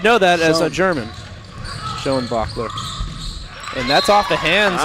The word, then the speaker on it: Schoenbachler: Wonderfully pronounced, I think. I think so. We have a Huttenlocker and a Schoenbachler. Schoenbachler. There we go. Schoenbachler.